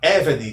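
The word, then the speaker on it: עֶבֶד: A única exceção é a palavra Eved, que tem a sílaba tônica na penúltima sílaba.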